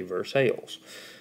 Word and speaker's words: Versailles: Kentucky outside of Lexington spelled the same way called Versailles that's because we're from Kentucky and say Versailles but when we're talking about the one in France let's call it by its French name Versailles the Treaty of